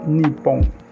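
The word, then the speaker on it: 日本: Este es el kanji del Japón y se pronuncia Nippon.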